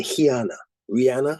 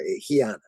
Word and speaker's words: Rihanna: Or as they say, Rihanna, because they pronounce the R, Rihanna.